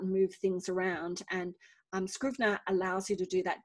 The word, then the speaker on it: Scrivener: word so i use scrivener for my writing and um because i have i tend to write things with really complex structures so um scrivener which is spelled s-c-r-i-v-e-n-e-r so screw vinna um it's really great